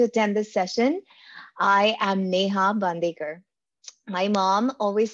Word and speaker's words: Neha: So Neha is actually a very common name in India, but it always gets mispronounced in the other parts of the world. So there you go. I'm not Neha. I call myself Neha.